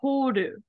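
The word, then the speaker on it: 放る: So hanasu, has this kanji, and it is the same kanji. However, when we get the ru here, it actually becomes horu.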